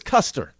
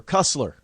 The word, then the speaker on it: Kuster: you know why uh her name is kuster or kussler is it kussler or Custer one of the two and yeah yeah she's